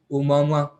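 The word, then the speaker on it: ʻOumuamua: Some interstellar object such as Oumuamua, सुना है कभी Oumuamua? नहीं. It is spelled Omuaoumua, but it's pronounced like Yomama.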